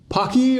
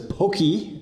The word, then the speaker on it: Pocky: this matchup is between Pocky or as the Japanese refer to it as Pokey as they they're how they pronounce it um and uh